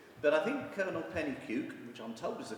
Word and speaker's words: Pennycuick: you want to but I think Kevin or penny puke which on top is the correct pronunciation has provides an important link which we